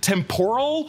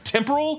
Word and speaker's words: temporal: But Owen Wilson always pronounced it temporal instead of the correct temporal, which I will admit, I for many years would say temporal like shrimp tempura, and I blame it on Owen Wilson.